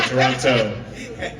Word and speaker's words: Toronto: Toronto and keeps trying to say not say Toronto trying to say in the what's the right